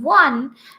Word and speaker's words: one: when we are saying one you see first of all we are getting the sound of w that is wah wah sound we are getting isn't it it is not the sound of o so if i talk